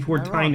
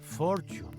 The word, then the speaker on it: Fortine: I believe you mean for time it. How do you mean? Most folk mispronounce my surname as fortune if they see it written down.